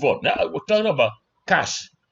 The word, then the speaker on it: cache: Now we're talking about cash. You see how I pronounce this thing? Cash like cash uh naira.